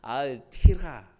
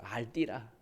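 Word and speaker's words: אל תירא: 뭐냐면 알띠라, 알티라, 알띠라. 그래서 히브리 발음으로 알띠라, 알띠라.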